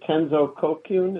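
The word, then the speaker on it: Tenzo Kyōkun: And so I went on to do Bendowa, and and then is it Tenzo Kokyun?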